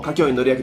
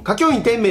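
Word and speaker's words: 花京院典明: てはいるうんゲームでも下京員乗りだしアニメでも下京員乗りだしうん下京員天命って呼ぶのは本当に徐々好きのマニアックな人でえ火元々は境員って下京員乗りたの字漢字あるじゃんあれ天明って読むんですよね元々荒木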